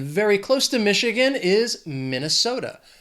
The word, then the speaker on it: Minnesota: And very close to Michigan is Minnesota. 4 syllables, stress is on that 3rd syllable, that so. That 2nd syllable is just the schwa, Minnesota.